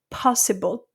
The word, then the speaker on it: possible: of air coming out another thing that I have for example possible possible same word is po see it's very flat in French.